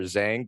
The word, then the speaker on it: Zheng: today we have a really cool guest Victor Zang did I pronounce that right correct yes well Victor welcome